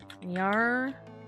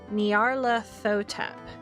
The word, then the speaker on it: Nyarlathotep: There's no official way to pronounce that name since it's a made-up nonsense word, but I prefer Nyarlathotep.